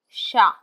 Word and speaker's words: chat: For example, the French word for the cat will be shown as chat, S-H-A, chat.